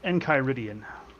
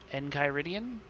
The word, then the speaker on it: Enchiridion: The word is Enchiridion. Enchiridion? I believe that's the pronunciation. At least that's how they say it in Adventure Time.